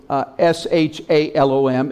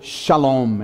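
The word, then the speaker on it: שלום: spelled in the Hebrew SH Al om it's spelled s al om s al om and the S is pronounced with an SH sound and that's actually called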